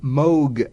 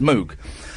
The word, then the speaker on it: Moog: And of course, everyone says Moog. And uh I I've now got that thing where someone says, "Oh, it's the Moog." I go, "Actually, it's pronounced Moog."